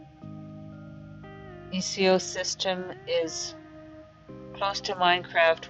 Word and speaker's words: Xxiou: Xxiou is pronounced Xxiou system is close to Minecraft with more crafting,